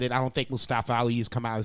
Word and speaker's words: Mustafa Ali: Mustafa Ali. Mustafa. That's right. Actually how you pronounce it. Story. Mustafa Ali was supposed to be in the main event at much WrestleMania.